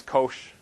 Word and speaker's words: cosh: Well, the nickname for them is cosh, because it's spelled C-O-S-H.